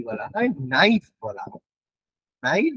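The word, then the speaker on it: NiFe: এই জায়গার বা এই স্তরটাকে কি বলা হয় নাইফ বলা হয় নাই বা নাইফে যা তোমরা উচ্চারণ করবে নাই বা নাইফে উচ্চারণ করা হয়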